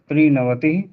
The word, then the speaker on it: त्रिनवतिः: नहीं द्विनवतिः द्विनवति त्रिनवतिः त्रिनवति त्रि नहीं त्रिनवतिः त्रिनवति त्रि पे रुकेंगे दीर्घ हो जाएगा रुकना नहीं त्रिनवति चतुर्नवतिः चतुर्नवति पंचनवतिः